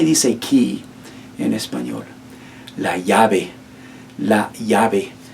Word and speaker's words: llave: La llave. La llave. Be mindful of that double L.